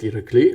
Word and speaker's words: Irakli: I asked ChatGPT, and it said it's Irakli, so the emphasis is on the second syllable. If it was pronounced in Bulgarian, I would have said Irakli, like on the last syllable.